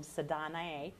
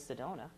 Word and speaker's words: Sedona: had some weird pronunciations they would tell me people were from sadanaye or sadana or see donna which i thought was funny because i think everybody all over the world knows sedona i know people in